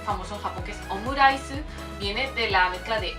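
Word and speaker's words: オムライス: Omurice, pues ese rice lo pronuncian con rice, con la R muy suave, o sea, no existe. Bueno, ahí en ese caso no lo van a pronunciar como una L, por ejemplo.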